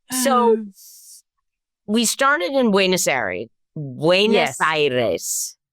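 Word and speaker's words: Buenos Aires: we started in buaer Buenos Iris buenos yeah Iris yes Iris because no one pronounces it correctly so we'll work on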